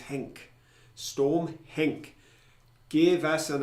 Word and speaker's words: Henk: I thought they'd mispronounced it. I thought it was Hank, but it was Henk.